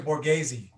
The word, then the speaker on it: Borghese: speaker tara and is it for guessing or guess i always feel like i say your name wrong well it's actually borghese very good okay